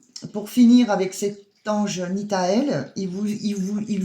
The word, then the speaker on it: Nithael: dire comment ça s'écrivait l'archange nthel c'est un ange pardon excusez-moi c'est l'ange nitael l'ange Nita s'écrit avec